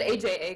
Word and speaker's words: AJA: next time lesson learned at least you said aja correctly so that's good congratulations you're going to